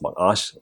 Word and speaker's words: Macaash: We have been having a conversation on Macaash, or as I'm told it's rightly pronounced, Macaash, when it comes to